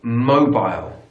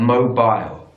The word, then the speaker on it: mobile: use either or either British English would say mobile mobile so the stress on the first syllable and Mobile aisle American English Mobile mobile so stress is also on the first syllable but it's bull not aisle bull mobile so British